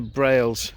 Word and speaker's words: Brailes: at the start of a walk it's brails i think it's pronounced lower braille so i'm starting from